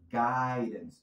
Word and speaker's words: guidance: For guidance. No guidance de nuevo. Esa pronunciación, la D entre sonidos vocálicos.